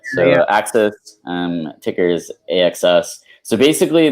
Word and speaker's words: AXS: But talk me through Axis. Am I pronouncing that correctly? Yeah, you got it. So Axis, ticker is AXS.